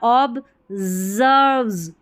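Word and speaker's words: observes: ऑब्जर्व्स एस ई आर वी ई ऑब्जर्व्स पढ़ेंगे। ऑब्जर्व्स नहीं एस को ज थोड़ा सा साउंड आएगा तो उच्चारण सही होगा।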